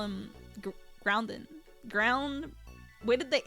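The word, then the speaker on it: Groudon: I like how Say it like you just without the N. Gruden. Grud Gruden. No, Grounden. It's a ground Pokemon.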